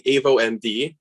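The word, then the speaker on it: AvoMD: uh i'll be presenting avo md is the way to pronounce it and we're the next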